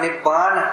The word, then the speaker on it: निब्बान: पाली भाषा में उसका उच्चारण निब्बाण होता था।